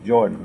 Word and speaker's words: Jordan: It's Jordan, like the River Jordan.